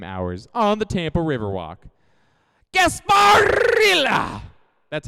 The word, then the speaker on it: Gasparilla: Gasparilla! That's how you pronounce it.